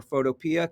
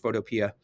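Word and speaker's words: Photopea: a browser photopia uh pea like a green pea it's apparently pronounced photopia this is a simplified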